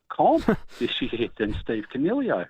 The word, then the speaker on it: Coniglio: Sorry, with the G pronunciation. Double G. Coniglio, every time.